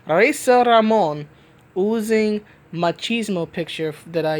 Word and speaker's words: Razor Ramon: I want to say it like the way Howard Finkel used to say it, rolling the R's. Reza Ramon, oozing machismo picture that I used in the Captain Marvel #1 review.